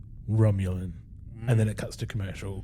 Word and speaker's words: Romulan: Roman star Empire and Paul says Romulan it's pronounced Romulan and then cuts to commercial cuz that's a